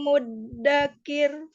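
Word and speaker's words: مُدَّكِر: fahal lidzikri fahal mim muddakir mim muddakir tipis rnya muddakir muddakir Jangan Dik tapiir tipis makirudir jadi diperhatikan mudakir tipis gitu ya jangan dikirudakir tapi kir kir mim muddakir masih ya karena dia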